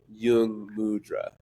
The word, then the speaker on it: Jung Mudra: oo in both words is actually the same Yung mudra you know it's like oo Yung mudra yeah